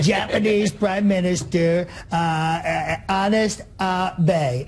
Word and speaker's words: Abe: prime minister uh honest AB that's how you say his name Tom AB you know for the longest time for the longest time I've been saying Abe VOD turns out it's